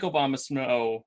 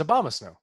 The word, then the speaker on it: Abomasnow: know I I like Obama snow mainly because I it's I don't think I'm pronouncing it right I definitely hate Obama snow no it's Abomasnow Obama said yeah but